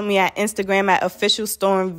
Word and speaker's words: Storm V: at instagram at official storm v o f f i c i a l s t o r m v you say the what is silent the v is silent storm v but the